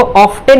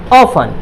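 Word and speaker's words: often: इसको ऑफ्टन नहीं बोलेंगे, क्या बोलेंगे टी साइलेंट है, क्या है टी साइलेंट है, तो ये हो जाएगा ऑफन, ऑफन मतलब प्राय।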